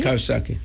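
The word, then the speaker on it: Coxsackie: Kosaki.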